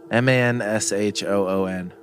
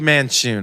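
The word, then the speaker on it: Manshoon: a powerful powerful wizard his name is manchon mention man sean men sean men sean yes can you spell that for us m-a-n-s-h-o-o-n god damn it guys man shoon yeah man shoot man shawn whatever right there it'll be manchun okay i didn't want to sound like monsoon a little too much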